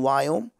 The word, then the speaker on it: Viome: And I, you know, as an Indian, I cannot pronounce that word V.